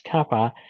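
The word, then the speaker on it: kappa: this Kaa here looks like K but it pronounced as Kaa now is called the dialectric constant of the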